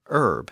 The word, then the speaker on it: herb: And at least in American English, we can add the word herb, as in a seasoning.